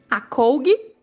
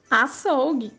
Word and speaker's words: açougue: Sem o C cedilha, como ficaria a pronúncia das palavras? Leia. Acougue, carroca, fumaca, pacoca. Agora leia corretamente. Açougue, carroça, fumaça, paçoca.